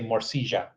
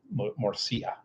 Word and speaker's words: morcilla: In Colombia, they pronounce the double L like a J. So they would say morcilla. But I'm used to like hearing Mexican Spanish, where they pronounce the double L as a Y, morcilla.